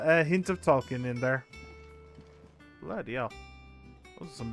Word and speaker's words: Ye: lands funny funny sorry the Yi in Ye Olde these geese it's actually pronounced the that's just how it's pronounced it's just pronounced the